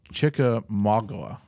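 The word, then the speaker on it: Chickamauga: close to home the I'm going to butcher the the name of this Lo reading it the chicka Maga is that how you would pronounce it that's exactly lock on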